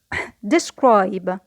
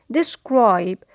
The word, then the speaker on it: describe: Next verb, to describe. To describe. So we notice that the stress is on the second syllable because it is a verb.